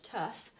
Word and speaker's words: tough: Okay, now this one's a tricky one because I've underlined the word tough and I've actually highlighted 3 different silent letters, okay, and I'm going to explain that. So that's definitely a silent letter because we tend to, when we're saying that word, tough, pronounce the sound. And the G and the H together actually, in this case, forms the F sound. So tough. So there's lots of letters